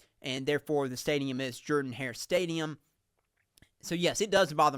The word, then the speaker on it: Jordan-Hare Stadium: Many Auburn fans pronounce it Jordan-Hare Stadium, and that's not correct. That's pronouncing it like my cousin Jordan.